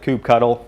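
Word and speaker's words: kubectl: the cube CTL command some people pronounce it coop cuddle which I find of noxious no offense a few guys pronounce it that way so I just say coop CTL they run a scheduler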